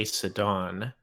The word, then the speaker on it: Aesudan: Paul, how do they say it in the audiobook? Elliot was very close. As far as I remember from the audiobook, they say Aesadan. I believe, yes, Okay. Aesadan.